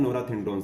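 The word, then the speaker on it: norethindrone: नोरेथिंड्रोन, नोराथिंड्रोन भी बोलते हैं, नॉर्थिंड्रोन भी बोलते हैं, नाम में कुछ नहीं रखा है, आपको स्पेलिंग सही लिखनी है। नॉर्थिंड्रोन बोल दो, नोरेथिंड्रोन बोल दो, जो अच्छा लगे वो लिख सकते हो।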